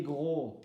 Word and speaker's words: gros: Et pour les gros et les minces, mince, zéro modification, mince et mince. Et gros, masculin, grosse, féminin. Gros, le S ne se prononce pas, le S ne se prononce pas, le E ne se prononce pas.